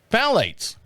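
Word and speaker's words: phthalates: Phalate. Phalates. Why is there a ph in front of it? Because it's silence, dummy, like you should be.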